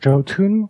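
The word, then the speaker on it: Jotunn: last week which was Jo tun so or Yun if you want yon you you don't pronounce the J whatever and this one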